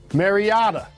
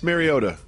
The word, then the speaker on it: Mariota: rookie when he plays I think you're pronouncing his name wrong who maryada Marcus Mariota maryada Mariota one of us is wrong Mariota all right